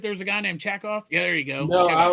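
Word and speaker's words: Chekov: It's Chackoff, but I might have mispronounced it as Jackoff.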